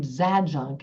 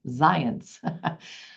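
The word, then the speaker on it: Zajonc: why does it say zad junk and who's the zence he keeps talking about till finally I realized you pronounce z AJ o n c as zence so science's Drive theory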